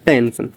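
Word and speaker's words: tension: इसको प्रोनाउंस करते हैं टेंशन।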